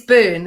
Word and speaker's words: Byrne: It's Byrne, as in Byrne.